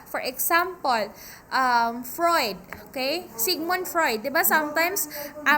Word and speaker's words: Freud: you correct that one sigmund fr i fruit fruit it's sigmund freud all right another merenpa